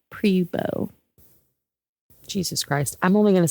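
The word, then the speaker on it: Pribeaux: Okay, let's not say Pau. It's Po.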